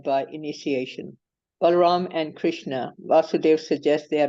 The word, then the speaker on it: Vasudeva: This word Vasudev, this is what I learned.